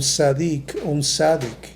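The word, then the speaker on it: צדיק: Esa palabra justa en el hebreo se pronuncia un sadik.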